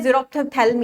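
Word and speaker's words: xerophthalmia: ये है अ अ प्रोनाउंस आप इसे ऐसे कर सकते हैं जरो थलम या कॉज्ड ट द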